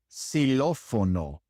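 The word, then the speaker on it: xilófono: There are a few words in Spanish that start with an X and in those cases the X is pronounced like an S such as in silophono silopono xylophone silopono.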